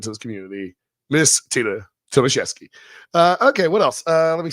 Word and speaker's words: Tomaszewski: We're not doing Tomaszewski anymore. Her real name is pronounced Tomaszewski. So we're gonna stop doing it Tomaszewski. We're gonna do it right.